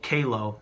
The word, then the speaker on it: QALO: And I just wanted to share that it's a a ring made by a company called Kao, which is spelled Q A L O.